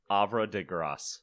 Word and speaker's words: Havre de Grace: Okay, so Havre de Grace. Okay, so the H is silent.